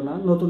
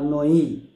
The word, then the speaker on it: নঞ: এজন্য এটা হচ্ছে যেহেতু পরের পদের প্রাধান্য পেল না। নতুন একটা অর্থ প্রকাশ পেল।